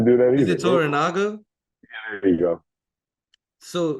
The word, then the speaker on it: Toranaga: it Toranaga? Yeah, there you go. So Lord Toranaga, right?